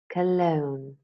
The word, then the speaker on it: cologne: the Oxford learners dictionaries silent G words nah known Nash benign malign sign design a line foreigner Dame campaign Champaign Cologne Laura Lee knew Nucky